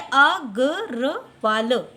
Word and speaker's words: अग्रवाल: तो ये हो गया अ ग र वाल, अग्रवाल।